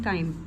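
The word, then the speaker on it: chyme: जो partially digested है, मतलब कि जो थोड़ा सा डाइजेस्ट हो गया, उसको क्या कह रहे हैं, काइम, चाइम कह लें, काइम कह लें, आपकी मर्ज़ी है।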